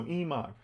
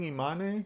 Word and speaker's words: Iman: Faris says Iman. That's how it would be pronounced. Okay, thank you, Faris. Yeah, so Iman. I've been saying Imane, so whoops, sorry guys.